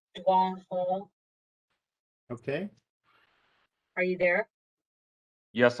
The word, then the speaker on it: Dawana Hall: Yes, it's pronounced Dwan Hall.